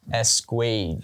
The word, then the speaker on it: Esquage: Give us the proper pronunciation of your last name. Esquage. Esquage. Okay. Damn, that sounds classy. Yeah. Squeege. Right. Sounds French. Yes.